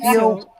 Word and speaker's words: pastitsio: It's called pastitsio. I make that a lot for my It's not kids. It's like moussaka. Can you pronounce that again? Pasticcio? pastitsio.